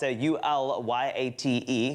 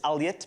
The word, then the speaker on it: Ulyate: In the past, it's spelled U-L-Y-A-T-E, which is Alyat, but some people say Ulyate, Alyate, all sorts of things.